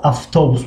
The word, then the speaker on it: автобус: کنیم autobus است مثلا اما автобус می خونیم. автобус و می نویسیم و ف تلفظ میکنیم.